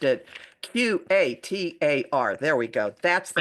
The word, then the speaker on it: Qatar: in Europe we say Qatar.